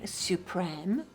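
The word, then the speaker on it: Supreme: Revitalizing Suprem, pronounced suprem.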